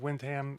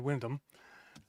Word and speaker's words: Windham: of London der and both pronunciations of Windham and Windam that's an inside joke